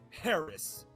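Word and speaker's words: Haracz: youtubes and once again my last name is spelled just like it sounds h-a-r-a-c-z harris boom yeah that that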